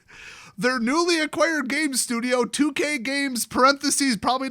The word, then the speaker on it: Tuque: So in basically any language based in Latin, that would be pronounced 2K. In fact, the accent would be on the first syllable because there's no accent mark on the E.